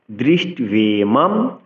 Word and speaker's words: দৃষ্ট্বেমম: অর্জুন উবাচ দৃষ্ট্বেমম স্বজনম কৃষ্ণ। দৃষ্ট্বে বফলার উচ্চারণ ভালো রাখতে হবে।